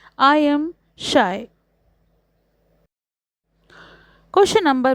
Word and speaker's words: Scheu: all a comply sixth the poet says that his name is pronounced as the word shy answer when it comes to pronouncing my name I am shy question number B answer